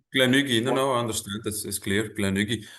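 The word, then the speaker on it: Glen Garioch: to do uh a Glenn Nugi? Uh apologies if I'm mispronouncing it. My hometown distilleries have always No, no, Gleni.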